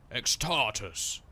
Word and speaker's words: X-Tartus: X-Tartus. Like Spartacus. You have to say it like that, otherwise they're like X-Tartus?